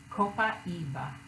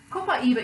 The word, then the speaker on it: copaiba: I've learned about copaiba yes that is how it is pronounced copaiba copaiba essential oil is steam